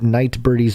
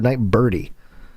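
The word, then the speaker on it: Nightbirde: i'm saying it right is it night bird or night birdie for the purposes of this exact moment we'll do night bird oh okay night bird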